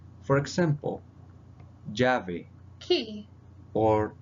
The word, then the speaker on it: llave: Ella, it is pronounced like a J. For example, llave Key.